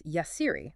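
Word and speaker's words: Yahcri: We are diving into Bloomja Aesthetics, and that's pronounced Bloomja Esthetics. And the owner, the founder, is Yassiri.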